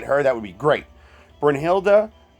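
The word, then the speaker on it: Brynhild: that would be great bryn hilda i don't and i know it's bryn hill but i like to pronounce it the way i've heard it all the years so um i don't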